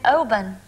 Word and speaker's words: Oban: And Anne, your Anne, is living in Oban. Is that how you pronounce it? That's Oban.